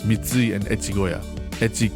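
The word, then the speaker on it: 越: Echi can be pronounced Koshi, don't worry about it.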